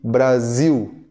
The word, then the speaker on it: Brasil: Eu demorei anos e anos para eu entender a pronúncia correta de Brasil. Brasil. Eu escutava, mas nunca entendia. Ouvia na TV quando a seleção jogava Brasil, ziu, ziu, ziu. Nunca entendia essa pronúncia, porque alguém em espanhol vai falar Brasil, Brasil, como se fosse dois S's, correto?